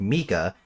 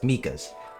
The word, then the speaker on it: Mika: I know his name is pronounced Mika. I knew a Micah that had their name spelled the same way as Mika's.